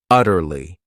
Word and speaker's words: utterly: Then we have another great adverb utterly. This word has three syllables and the stress is on that first syllable.